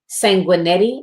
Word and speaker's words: Sanguinetti: Queens roundtable with Nadia sanguinetti I believe is how she pronounced her name Sanguinetti and she is phenomenal